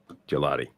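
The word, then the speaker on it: Gillotte: How's this pronounced? Jalot? I'll get it right now. Gelati? I think it's Gelati. What is the official designation from the beast? Gelati.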